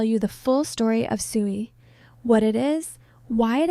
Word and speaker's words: SUI: Today, I'm going to tell you the full story of Sooie.